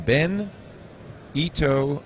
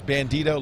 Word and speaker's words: Bandito: he's here he's from ben ito brothers that's one way of saying it benito brothers bandito brothers bandito two words three syllables it's misspelled here it's bandito like frito bandito absolutely bandito brothers i